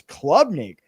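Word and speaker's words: Klubnik: and I was like his last name is Clubnik. I've been saying it wrong this whole time and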